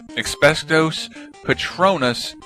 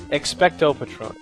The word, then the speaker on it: Expecto Patronum: Expectos Patronus produces a crossing guard in Harry Potter, so what would yours do? You mispronounced all of that. I really thought I was... Patronus? Expecto Patronus.